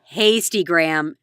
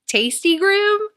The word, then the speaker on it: Hastygram: No, Hastygram, Jessica. Tastygram? It's Hastygram. You never noticed Hasty instead of Insta. Spell it? Hasty, like H-A.